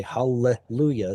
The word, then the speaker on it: hallelujah: Well, how do you say hallelujah? No, you say hallelujah so that we know that there are two of them.